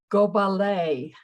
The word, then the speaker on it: Gobalet: My name, at least the way I pronounce it, is Gobalet. Rhymes with Chevrolet.